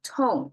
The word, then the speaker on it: 桃: as the carry over the exact the same pronunciation it's transformed from CH to to not only the um consonant change but the tone change as well so to is what we